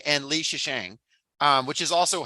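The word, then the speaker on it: Lei Zhicheng: Yeah, Yang Wenning and Li Shisheng, which is also how I looked it up online on how to say it, and that's how they said it as well.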